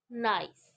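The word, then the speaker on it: gneiss: से बने हुए हैं गस गस pronounce नाइस is form from granite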